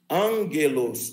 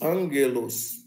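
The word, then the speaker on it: ἄγγελος: Então, a gente pronuncia angelos, angelos, angelos.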